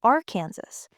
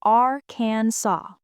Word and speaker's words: Arkansas: The French spelling Arkansas stuck, and the French do not pronounce the final S. So legally and historically, it is Arkansas.